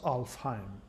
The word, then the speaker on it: Alfheim: so elves are shining so light elves leo's Alfheim light elf home that's how it's pronounced sparked Alfheim dwarf home Leo's Alfheim light